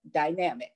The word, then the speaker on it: Dynamik: and public figures through her company, Dynamik Endeavor, pronounced as Dynamik, by the way.